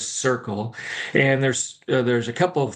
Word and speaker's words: Curql: A lot of people pronounce it Curql, but it is Curql.